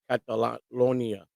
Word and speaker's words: Catalonia: Cantolina. Yeah. Yeah, I think it's pronounced Catalonia.